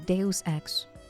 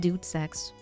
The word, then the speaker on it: Deus Ex: I'm gonna try to say it properly. Deus Ex. Not Dude Sex.